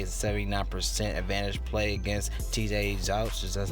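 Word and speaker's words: Zuch: 79% advantage play against TJ Zouch, that's how you pronounce it, but nonetheless in a horrible spot for him because he get crushed by lefties, a 900 OPS against lefties.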